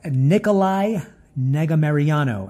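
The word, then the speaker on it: Nicolae Negumereanu: the auto belongs to nicolay I don't even know how to pronounce that but you know what I'm going to learn how to pronounce that his name is pronounced Nikolai negga Mariano and he hails from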